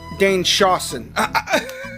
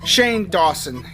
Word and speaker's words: Shane Dawson: Okay, Not Cool is a 2014 American romantic comedy film directed, produced, and edited by Dane Shawson. I'm sorry, peeps. Shane Dawson.